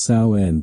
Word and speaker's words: Samhain: The pagan festival of Samhain, pronounced Samhain, became All Hallows Eve, the vigil before All Saints' Day.